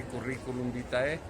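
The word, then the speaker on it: curriculum vitae: todo currículum vite que si no lo saben pronunciar bien van así currículum vítae y es carrera de la vida y carrera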